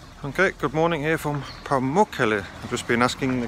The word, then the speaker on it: Pamukkale: Okay, good morning here from Pamukkale. I've just been asking the guy in the hotel. It's apparently the correct way to pronounce it, Pamukkale.